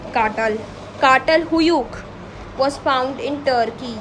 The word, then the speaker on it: Çatal: Kartal, it's not cattle, I would pronounce it as Kartal.